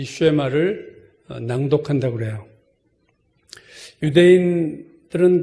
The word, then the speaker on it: 쉐마: 오늘 본문 신명기 6장 4절에서 9절 말씀을 우리가 쉐마라고 부릅니다. 쉐마라는 이 단어는 오늘 4절에서 이스라엘아 들으라 할 때 그 들으라라는 히브리어를 그냥 음역, 그러니까 발음대로 얘기한 것이 쉐마예요. 원래는 샤마 이건데 우리말에서 쉐마.